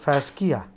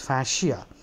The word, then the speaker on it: fascia: like you know you you'll be tempted to pronounce it fasia no but but it is fasia so fascia what is a fasia it's a